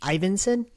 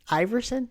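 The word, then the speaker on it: Iversen: Ward and with Ivan ivanson is how you pronounce it Iverson Iverson Iverson like Alan Iverson yeah we think with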